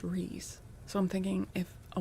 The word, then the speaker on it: Rhys: So it would be, but yeah, Rhys, I know that is pronounced Rhys.